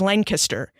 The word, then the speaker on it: Lancaster: So when I arrived on campus, they taught me a lot about Pennsylvania culture, like the proper pronunciation of Lancaster is Lancaster, that there are differences between hogies and heroes and between cheese steaks and steak and cheese sandwiches.